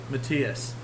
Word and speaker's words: Matthias: So, with that last call, alcohol, Matthias.